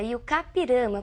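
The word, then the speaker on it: I-Juca-Pirama: e o capirana e a pronúncia realmente essa e o cá pirama porque é um termo de origem indígena nós escrevermos e Juca pirama Mas pronunciamos e o k significa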